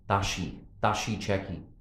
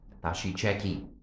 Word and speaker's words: Tashi Cheki: I'm going to correct my pronunciation. Tashi Cheki. I'm pronouncing it with a strong Caucasian accent here. Tashi Cheki.